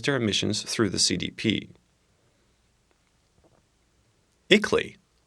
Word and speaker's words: ICLEI: emissions through the CDP eakly pronounces it CLE was really spelled ICLEI is an international association